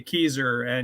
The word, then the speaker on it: Kieser: yeah i tell people just think old geezer but with the k keyser and you'll get my name right well i won't think